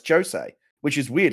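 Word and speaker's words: José: I found out I eventually said no, it's Jose, which is weird. Like you did the last thing you'd think would be pronounced as a J sound, but it's actually pronounced Jose Mourinho.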